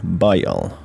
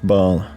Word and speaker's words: Bael: Altering the pronunciation a little, we notice this stands for Bael. Bael, not to be confused with Baal, which at times have been interchangeable, is the principal king of hell.